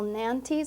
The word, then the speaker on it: Nantes: Gill's Special Nantes, is that how you say it?